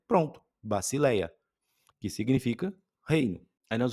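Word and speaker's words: βασιλεία: Eh, por exemplo, aqui, ó, a única que tá um pouquinho diferente é o sigma e o e o lambida, mas uma vez você identificando que tem o som de s e a outra de L, pronto, bacileia, que significa reino.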